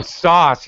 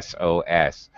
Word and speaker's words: SOS: Oh, sauce. You're actually pronouncing it. Okay. In English, we never pronounce it. We say SOS.